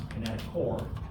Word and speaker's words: kinetochore: Some people lump them together with the kinetochore, which you might pronounce kinetochore, chore.